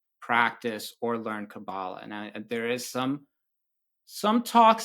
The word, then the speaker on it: Qabalah: So the word Qabalah, actually, if we were pronouncing it the correct Hebrew way, it would be Qabalah, is derived from a Hebrew root meaning to receive.